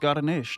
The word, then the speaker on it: Garneesh: It is Garneesh, not like celery or whatever.